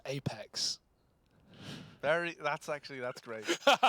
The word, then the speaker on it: apEX: Vitality with his Apex terrorists win ni it's pronounced Apex very that's actually that's great that's very funny